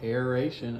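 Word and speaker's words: aeration: that word a aan how do you spell that a i r a t i o n oh it's literally like aration okay instead of Aviation ariation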